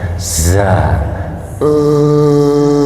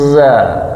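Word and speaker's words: ز: Tapi yang paling penting itu adalah huruf zai itu sifatnya jah. Nak mengalirkan udara jadi jangan dibaca za e. zaza tanpa udara yang mengalir.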